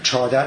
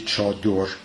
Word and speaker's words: chador: In this poem, chadar is rhymed with delavar, so this is another pronunciation of chador. However, in the Middle Persian text, it is clearly chador.